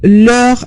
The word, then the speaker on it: l'heure: فوزية دازي لا أقول لا heure. أقول l'heure الأبوستروف لأن heure كلمة فيها H muet يعني H لا ينطق فأنا أعتبره غير موجود فأعمل الأبوستروف.